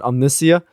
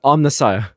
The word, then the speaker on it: Omnissiah: car and and okay I admit that I did pronounce it incorrectly the omnissiah uh cuz I I accidentally said Omnia but like I said I was just going off of like uh the pronunciation online like how they broke it down and I still said it wrong but I got it